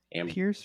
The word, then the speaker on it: Pierce: um we too said Pierce because it rhymes with Fierce uh we were right in the Pierce Buchanan area for the